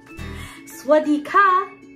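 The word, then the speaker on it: สวัสดีค่ะ: Swadika.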